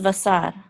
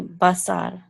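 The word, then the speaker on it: בשר: This says vasar. Mm-hmm. But I thought it was more commonly basar, right? It is. Modern Hebrew doesn't follow the, as you know, modern Hebrew is a lot more simplified in pronunciation than biblical Hebrew.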